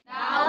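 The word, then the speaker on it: doubt: डाउट में कौन सा लेटर साइलेंट है? बी। बी। तो हम बी का दो रूल बताए थे। एक तो एम के बाद आएगा तो बी साइलेंट रहेगा।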